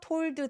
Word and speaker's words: told: 여기서 told the 아니고 told라고 하는 이유는 또 뭐예요? 자음이 한꺼번에 많이 뭉쳐있고 요 D하고 더의 TH가 혀의 위치가 굉장히 가까워요. 그래서 told 중간에 D 발음 삭제하셔도 좋습니다. Told the princess to keep her promise.